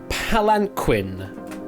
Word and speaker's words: palanquin: Is it palanquin? Palanquin, actually, not a queen.